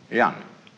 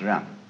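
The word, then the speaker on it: 仁: In Confucius philosophy, the fundamental virtue of a human being is called yan, spelled Jen for reasons best known to Chinese scholars. I don't know what they are, but it's pronounced yan.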